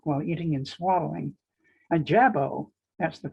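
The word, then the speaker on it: jabot: if they talk while eating and swallowing a jabo that's the correct pronunciation is an ornately styled stylized bib and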